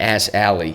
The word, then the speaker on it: Assalley: Name spelled like Ass Alley, Assalley.